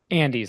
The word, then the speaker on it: Andes: Andes, like the mountains.